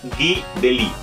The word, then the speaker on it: Guy Delisle: Sí, se pronuncia Guy Delisle, el cual tuve la fortuna de conocer, que